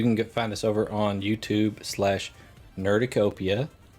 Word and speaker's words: Nerducopia: find us over on YouTube/Nerducopia, spelled like cornucopia, but with nerd, _ network.